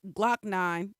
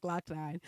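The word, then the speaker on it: Glokk Nine: nine lakh nine lock nine nine loke nine pronounce glock nine oh it's pronounced bla is pronounced glock nine uh was sentenced wednesday to about seven years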